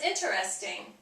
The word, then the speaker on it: interesting: Interest is 3 syllables. Interest. So obviously with the ing would be 4 syllables. Interesting. Most of the time people want to say interesting or interest. It's interesting.